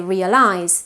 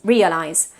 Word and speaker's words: realize: For example, realizar, in English, it's realize with initial stress. And we tend to say realize, but it's realize.